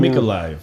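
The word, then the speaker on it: Mykolaiv: are going uh and the pronunciation of the town mikolai but that's right there right above that and it's spelled m-y-k but when you see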